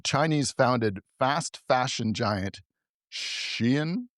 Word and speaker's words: Shein: But and in other interesting news, the Chinese founded fast fashion giant Shein, I think Sheen, it's Sheen. pronounced.